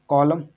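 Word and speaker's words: column: अब देखो आगे लिखा हुआ CULUMN, कॉलम, इसको क्या पढ़ेंगे, कॉलम। इसको कॉलमन नहीं पढ़ेंगे, कॉलमन।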